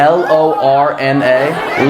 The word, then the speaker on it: Lorna: Spell it. L O R N A. L O R N A.